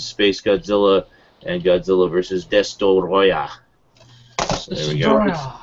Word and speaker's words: Destoroyah: We got Godzilla versus Space Godzilla and Godzilla versus Destoroyah. So there we go. It could also be pronounced Destroya. Just Destroyer, whatever.